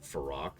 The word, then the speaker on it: Fyrakk: Some people probably notice we keep pronouncing it Fyrak, even though they actually do have voice acting that pronounces it Farak. It's because Farak is really unnatural sounding. Just to be blunt about it. Fyrak is what Fyrakk looks like in English.